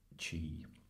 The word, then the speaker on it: Qi: The most popular wireless charging technologies come from Qi, pronounced Qi.